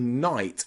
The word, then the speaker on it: knight: your English pronunciation okay try these wonderful silent k tongue twisters number one I knew the Knight had a knife behind his knee I knew the Knight had a knife behind his knee I knew the Knight had a knife behind his knee okay lots of silent k letters in there I knew the Knight